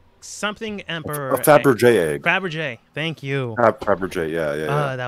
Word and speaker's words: Fabergé: Fabergé, thank you.